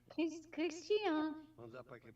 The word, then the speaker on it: Christian: In the state of Paraíba, it's Christian. That is how they pronounce my name.